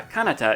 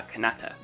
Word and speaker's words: Kanata: In tokipona, the first syllable of a word is the one that's stressed, no matter how long it is. That's why it was ma Kanata in that last example and not ma Kanata.